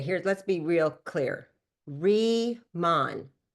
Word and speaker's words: Riman: Remon, not ramen, like ramen noodles. Re re ramen. People say it wrong. Reman, like rebirth, rethink, re-imagine, redefine. You see how it all makes sense? You see the re right there?